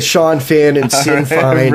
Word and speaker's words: Sinn Féin: The pronunciation of the IRA's political arm is Sinn Féin. Sinn Féin.